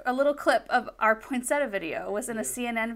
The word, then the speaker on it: poinsettia: Like I will admit, our region pronounces it poinsettia instead of say poinsettia, which is I think proper.